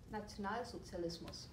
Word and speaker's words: Nationalsozialismus: Nationalsozialismus.